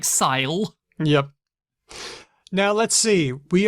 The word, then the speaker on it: syle: It's spelt S-Y-L-E. Like it does not look like sell. It looks like sile.